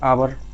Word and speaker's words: hour: अब इसको मैं अबर पढ़ते हैं, ये आवर, 1 आवर, तो इसको हम हा ना पढ़ करके आ का प्रोनाउंसिएशन कर रहे हैं, इसलिए इससे पहले मुझे लगाना पड़ेगा एन, यानी कि एन आवर।